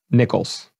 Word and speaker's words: Nichols: Nichols. And with pristine pronunciation.